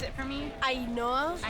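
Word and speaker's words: Ainhoa: Ainoa. It's like Ainoa plus an A.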